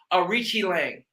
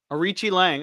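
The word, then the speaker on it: Aoriqileng: versus Arichi Lang. Arichi Lang. Okay, that makes sense. Yep. And it's a lot easier than what I was saying. It might be Arichi Lang or Arichi Long.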